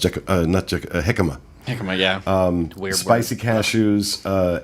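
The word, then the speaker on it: jícama: How's it pronounced? Jicama.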